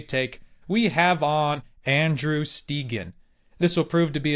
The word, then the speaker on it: Stegen: I said it wrong. I'm doing well. I'm doing well. How are you? I'm doing fine, thanks. Stegen. I always don't know why I want to default to like Stegen. Hey, that's all right. It's the proper Scandinavian pronunciation after all.